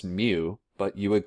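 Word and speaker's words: μ: here we don't have in our alphabet it's pronounced mu but you would call it like micro like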